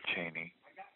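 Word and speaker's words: Chaney: It's kind of like it's spelled. You know, Cheney.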